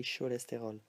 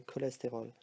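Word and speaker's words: cholestérol: And if you have a ch word, it can be pronounced as a k, like k. So cholesterol. We don't say cholesterol, alright? We say cholesterol, like in English.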